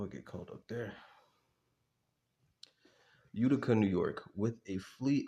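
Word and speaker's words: Utica: Giving our modest capital base, Mohawk Airlines, our primary target, was based in How do I pronounce this? Udica.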